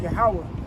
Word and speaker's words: Yahweh: So in the Hebrew, we're going to start with Yahweh. And to break it down just like syllable by syllable, and then I'm going to put it all together. It's Yah, Ha, Wah, Ha.